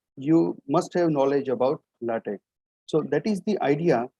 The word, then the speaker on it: LaTeX: how to pronounce this so basically according to our spelling what we normally do is latex or latex but it's not the correct pronunciation so first of all we should learn that how to pronounce this thing you should speak latex or latte okay so as highlighted